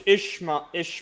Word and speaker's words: Ishmael: Yeah, he was Ishma. That's how you pronounce it. Ishmael.